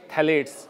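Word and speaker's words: phthalates: ए बी N paraben थैले पीट silent है पी टी एच ए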